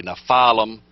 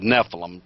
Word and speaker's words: Nephilim: Once in I would say Nefalum or Nephilim. People pronounce it both ways.